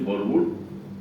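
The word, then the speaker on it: Verwoerd: थी राष्ट्रपति थे फरव जिनके नाम की स्पेलिंग आप लिखेंगे तो व वर्ड होगा ी ओ ई आर डबल आरडी लेकिन उच्चारण है फ तो वो राष्ट्रपति फरड उन्होंने ऑफिशियल पॉलिसी अपाइड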